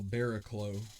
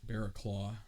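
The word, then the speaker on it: Barraclough: my it'll be kyle baraklo bear a claw i think that's actually how you say it coming in so he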